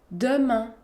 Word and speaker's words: demain: Par exemple, dans le mot demain, demain. La lettre E se situe devant une consonne, la consonne M, alors on la prononce E. Demain, demain.